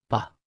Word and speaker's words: 吧: 爸 Se pronuncia con el tono neutro.